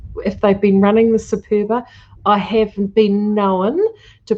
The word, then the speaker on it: Superba: It goes through a machine called the Superba, which is and I love it because it's spelled Super Bar, BA, Superbar. So it's called the Superba, but I just like the Superbar.